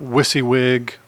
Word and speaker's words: WYSIWYG: And while I'm at it, this is called a WYSIWYG (pronounced wissee-wig) What You See Is What You Get editing field, also called a Rich Text field.